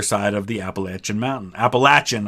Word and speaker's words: Appalachian: Appalachian, I say it that way because outside of the northeast part of the United States, pretty much everybody pronounces it Appalachian. In the northeast, it's pronounced Appalachian, but the people who live there, for the most part, say Appalachian, so that's how I say it.